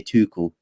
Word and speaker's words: Tuchel: I say Tuchel.